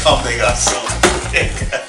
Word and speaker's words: Comme des Garçons: I know how to say it's Comme des Garçons.